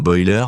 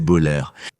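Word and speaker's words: Boelter: Le détenu Vance Boller, il prononce bien son nom comme Boiler, mais en fait c'est Boller.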